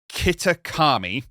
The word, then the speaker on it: Kitakami: Kitakami. The village of Kitakami is where they live, but they go to